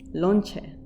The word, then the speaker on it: lonche: So lunch in Spanish is lonche. Very similar.